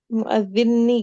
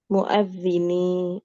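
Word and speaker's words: المؤذن: mu ibnul muadini oh pakai tasdid ini muadinni gitu ya ustazah Ya. Ee itu salah salah apa namanya? Salah tasdid. Bunda Lelaan di situ yang tasdidnya di atas huruf dza bukan di atas huruf nun.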